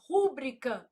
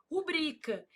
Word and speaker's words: rubrica: A pessoa vai lá e fala assim: "Rúbrica não, não existe, meu filho. Ah, mas eu não posso falar se eu quiser." Não, se você quiser, você pode falar, mas tá errado. O certo é o quê? Rubrica.